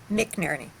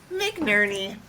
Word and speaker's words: McNerney: Is that how you pronounce it? McNerney? McNerney. McNerney.